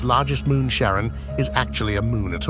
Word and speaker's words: Charon: to his wife Charlene he pronounced it as Sharon rather than Karen not much was known